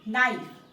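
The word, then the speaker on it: knife: শুধু মনে রাখতে হবে নাইফ কে এন আই এফ ই নাইফ এখানেও কে টা কি আছে সাইলেন্ট আকারে রয়েছে নাইফ মানে হচ্ছে চাকু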